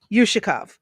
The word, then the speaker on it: Yushakov: How'd you pronounce the guy's name? Ushkov? Yushakov? Okay, thank you. Yushakov, not you.